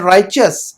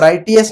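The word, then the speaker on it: righteous: एंड राइचस, राइचस का मतलब नेक और स्वाले, राइचस हो, इसका प्रोनाउंसिएशन क्या है? राइचस। हाँ, राइटियस नहीं पढ़ेंगे इसको, हम क्या पढ़ेंगे? हम राइचस, है ना।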